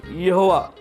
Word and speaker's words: यहोवा: मेरा नाम रहेगा और उसका प्रोनंसिएशन यहोवा यहोवा और जब हिब्रू भाषा में यहां पर स्क्रीन पर हम देखते हैं यहोवा यह जो शब्द है उसकी स्पेलिंग आती है योद हे वाव हे उसका मतलब यह होता